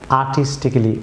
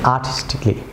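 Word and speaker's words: artistically: Viewers, পরের যে লেটারটি এটি আমরা অনেকে আর্টিস্টিক্যালি প্রনাউন্স করে থাকি, ভুল প্রনাউন্সিয়েশন, এটি হবে এই সাইলেন্ট থাকবে, এটি হবে আর্টিস্টিকলি।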